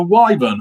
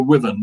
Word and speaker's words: wyvern: there's a mythical beast called a wyvern or a women depending how you want to pronounce it anybody know the difference